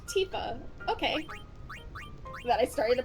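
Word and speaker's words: Tifa: original Final Fantasy 7 I pronounced her as tiffa because in the original Final Fantasy 7 there was no voice acting and I didn't know to pronounce the I like an e so it wasn't until evident children came out where it was like oh her name is pronounced Tia okay then I started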